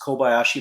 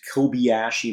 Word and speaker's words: Kobayashi Maru: way that they pronounced Kobayashi Maru is so bad. If you've ever spoken Spanish or German or other languages where the vowels always maintain the same sound regardless of their position in a word, why is it that